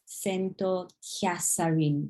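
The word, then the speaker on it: セント・キャサリン: So they don't have a TH sound in Japanese. So what you're going to say is Kyasarin. Saint will be pronounced Sento because Saint, Sento. Sento Kyasarin, Kyasarin.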